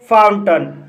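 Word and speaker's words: fountain: एन आया है, इसलिए यहाँ पर AI का उच्चारण आ हुआ है, इसलिए इसे विलन पढ़ा जाता है। इसी तरह फाउंटन, फाउंटन शब्द के अंत में AI के बाद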